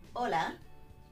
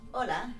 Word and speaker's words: hola: La letra H es shh, muda, no se pronuncia.